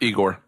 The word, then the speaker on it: Igor: in this movie for some reason um it's pronounced eigor eigor oh sorry you know I can fix